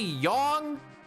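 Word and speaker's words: Yang: They call him Yong in the 3D version. There's literally people saying, "Hey, Yong, what's going on? Yong, a long O or Oh, you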